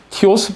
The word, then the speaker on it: T.OS: 저희 블로그가 이제 티오스 프로젝트라고 여기 보면은 T.OS라고 해서 저희들이 이제 발음을 티오스라고 그러는데 티오스 프로젝트에 이 문제점을